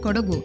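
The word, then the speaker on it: Kodagu: called it kurk because they were unable to pronounce the local language the natives of the land of kugu are known as kodavas and are a martial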